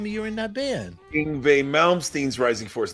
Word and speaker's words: Yngwie: this guy you know Yngwie yeah we we no no no it rhymes with Stingray just say Stingray ingbe it's easy all